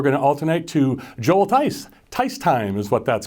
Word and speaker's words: Thys: There's some stories with people T-H-Y-S. The H is silent. Talk about that for just a second, please. The name doesn't speak for itself, we'll say, and we've been called lots of different things, but the H is silent, and it does rhyme with time real nice.